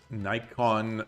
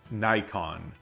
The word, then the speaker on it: Nikon: Nikon. I never thought about it. In the United States, we pronounce the camera brand Nikon. Is it actually Nikon? Nikon.